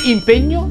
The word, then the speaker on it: impegno: un po' di impegno impegno si pronuncia con la e chiusa impegno così come regno in questo video ti